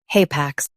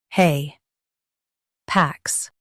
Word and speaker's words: hapax: hay pax haypax Stress hay and keep pax light.